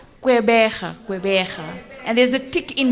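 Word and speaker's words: Gqeberha: Kwaggerba. I can't pronounce it. Kwaggerbe. Port Elizabeth. Can you repeat that again? I get it wrong as well, so we're really in trouble. Okay. How you say? Quebeja.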